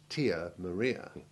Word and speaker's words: Tia Maria: way to avoid mistakes first some true long i3 examples the relevant letter being in italics where there is more than one i in a word rio trio beer real pizzeria tanzania nicosia fiat and we mustn't forget that delicious liqueur tia maria and now for some